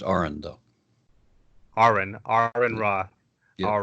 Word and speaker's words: Aron Ra: Aaron rah hi mr. raha are you sorry it's pronounced Oren though ahran ahran rah all right how are you doing well all